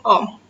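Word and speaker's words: ohm: hambatan listrik satuannya Oh jadi itu bacanya Om bisa bersih hambatan listrik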